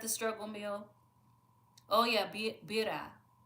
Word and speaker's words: birria: Oh yeah, bira. How do you pronounce it? Birria? Because I know the I is E.